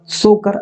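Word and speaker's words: Tso Kar: तो यहाँ पर आपका राइट आंसर होगा सोकर आर्द्र भूमि। ठीक है, सोकर आर्द्र भूमिता यहाँ पर साइलेंट हो जाएगा।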